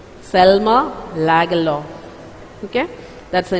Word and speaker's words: Selma Lagerlöf: Selma Lagerlöf. Okay? That's her name. It should be pronounced like that. It's a Swedish pronunciation. Selma Lagerlöf.